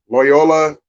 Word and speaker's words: Loyola: Tennessee Oregon State um Loyola I would say rhymes with Toyota against Georgia Tech and